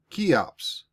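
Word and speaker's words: Cheops: spelled c h e o p s and pronounce keeops possibly his comrades nicknamed him key when they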